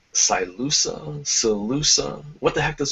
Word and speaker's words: Silusa: So I have to ask, is your agent name pronounced Silusa? Silusa? What the heck does it mean? Silusa, and it's a former gaming handle I used